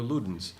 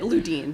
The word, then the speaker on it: Ludin: And Ludin I I'm because of the cough drops. I'm sure a lot of people just call you Luden.